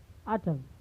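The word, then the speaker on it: autumn: Next हमारा है कि जब कभी यन यम के बाद आता है, तो यन का उच्चारण नहीं होता है। जैसे आटम, then column him।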